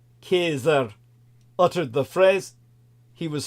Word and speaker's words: Caesar: Caesar or nothing when Caesar correctly pronounced ker uttered the phrase he